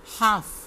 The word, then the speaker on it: half: half, इसमें भी L silent है।